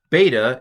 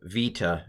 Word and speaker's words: beta: all agree on that beta is a b sound sometimes times it's called Uh uh Vita in modern Greek but I'm going to pronounce it B beta uh gamma is G